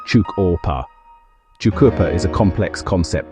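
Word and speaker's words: Tjukurpa: This belief system is known as chukupa, pronounced chuk ora.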